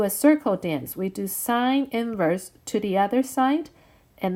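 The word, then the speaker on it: sin⁻¹: it's spelled out a sine inverse cosine inverse tangent inverse and please do not say sign negative one that's different from sine inverse this stands for sine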